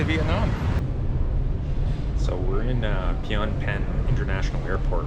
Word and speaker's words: Phnom Penh: we're at the uh International uh airport in Pon pen I always got to think before I pronounce that Pon pen so uh yeah not you know it's not